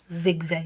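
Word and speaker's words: zigzag: ಏನಂತ ಓದ್ತೀರಾ ಇಲ್ಲಿ ಕೂಡ ಜಿಗ್ಜಾಗ್ ಇಲ್ಲಿ ಐ ನ ಉಚ್ಚಾರ ಇ ಆಗಿದೆ ಇದು ಎ ನ ಉಚ್ಚಾರ ಯಾವಾಗಲೂ ಅ ನಂತರ ಅದು ಕೂಡ ಬೇರೆ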